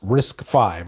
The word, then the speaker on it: RISC-V: So, adopting RIC-V pronounced risk 5. Okay, risk 5, that's what it's how it's pronounced.